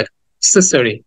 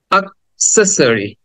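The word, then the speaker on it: accessory: হ্যাঁ বলবো কিন্তু আসলে শব্দটা উচ্চারণ হবে কিছুটা আ এর মত দেখো ঠিক প্রথমে যে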